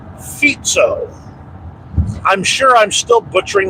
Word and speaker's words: Fico: name many times and I always pronounced it FICO and I finally broke down and did some research and it sounds more like feto I'm sure I'm still